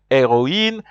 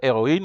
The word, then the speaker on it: héroïne: Remember, heroine, the H is silent, but for hero, the H is not silent simply because we don't want to say zero. We have to say hero, but heroine, you see, there's no confusion.